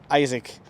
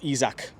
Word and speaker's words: Isak: totally different to chris wood you think of isaac or izak however you want to pronounce it six foot three lad you think